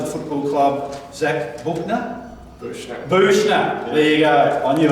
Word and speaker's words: Buechner: Buechner.